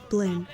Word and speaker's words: BPLN: spectrograph patterns into the english letters bpln pronounced blin and we will accept